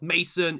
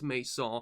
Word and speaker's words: Maison: You know, the N is silent here, you know, so it's not Mason, it's Maison.